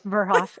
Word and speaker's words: Verhoff: So this lovely lady right here is Verhoff. Did I say it right? Pretty Close? close. Verhoff. It's good.